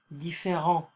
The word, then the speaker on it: différent: Different, différent. So we don't pronounce the final consonant.